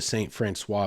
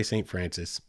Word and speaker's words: St. Francois: People up there will say St. Francis. It's a colloquial thing. It's spelled St. Francois. It's French. That's the proper pronunciation.